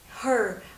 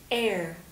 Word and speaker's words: heir: Âm H của từ này là âm câm, cho nên không được đọc ra. Mọi cách đọc như là her hay là hair đều sai, mà các bạn phải đọc là heir, heir.